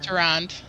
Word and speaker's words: Tyrande: How do you pronounce Tyrande?